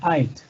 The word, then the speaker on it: I'd: Y la pronunciación sería ait, ait.